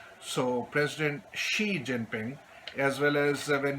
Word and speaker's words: Xi: language as well so where there is an X so it is pronounced as she so President Xi Jinping as well as